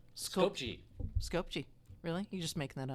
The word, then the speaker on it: Skopje: And it's out of, okay, if you've been there, how do you pronounce Skopje. Skopje.